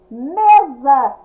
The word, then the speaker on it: mesa: Mesa, escrita com S, pronúncia com Z.